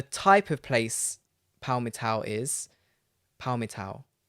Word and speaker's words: Palmital: p-a-l-m-i-t-a-l but i made sure that i can pronounce it before we started it's paul metal let me turn rod back up and see